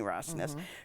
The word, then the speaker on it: Rosnes: Rosnes, yeah.